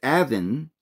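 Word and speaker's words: און: The name is pronounced Avin, which is the same as On.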